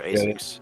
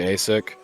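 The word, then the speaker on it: ASICS: Those are AS6.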